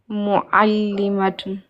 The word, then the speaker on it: معلمة: Mu'allimatun. Répète le aïn.